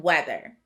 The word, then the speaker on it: weather: a in the middle we would expect the vowel team to say e but i don't hear that sound in weather instead it sounds like a short e so this word does